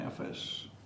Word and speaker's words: affairs: For example, I'm trying to do, or he was prying in my affairs. and here, do you pronounce the R?